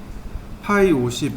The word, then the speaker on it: ø50: 얘는 파이 50이라고 읽으면 돼요. 앞에 여기 동그라미에 이렇게 슬래시 그려져 있잖아요. 요거 파이라고 있습니다. 파이 50 이렇게 읽으면 돼요.